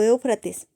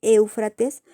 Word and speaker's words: Éufrates: río pues fíjense que la palabra éufrates viene del griego que también se pronuncia igual éufrates que significa el río